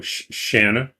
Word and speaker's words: Shanna: Because when Jod pronounces those, they're all going to sound exactly the same. No one's going to know who he's talking to. Shanna, yeah. He'll say Channa. I'm like, Jana's in here? I don't see her. Oh, that's right. He's putting the wrong emphasis on the wrong syllable.